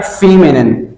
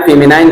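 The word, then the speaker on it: feminine: दूसरा है फीमेनिन। क्या है? फीमेनिन। अक्सर लोग इनको मैस्कुलाइन, फेमिनाइन कहते हैं, लेकिन इसका एक करेक्ट प्रोनाउंसिएशन नहीं है। Correct pronunciation is masculine and फेमिनिन।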